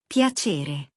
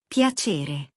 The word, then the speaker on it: Piacere: That C is sitting in front of an E, Rule 1, from last lesson. Piacere. Piacere.